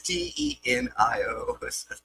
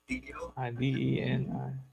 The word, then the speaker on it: Denio: I just assume that's how you say his name. It's Denio. Dinio.